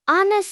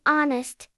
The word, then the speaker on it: honest: 30 silent words with pronunciation. Knife silent ki silent k nay. Honest. Silent H. Honest.